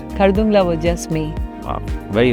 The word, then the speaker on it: Khardungla: Khardungla, if that's the way I can pronounce Yes, it. That's right. Khardungla.